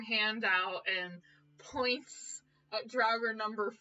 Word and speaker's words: Draugr: How do you pronounce that? Draugr.